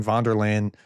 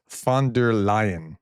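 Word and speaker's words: von der Leyen: So, I was saying Vanderland, but it's Fander Lion, as I understand.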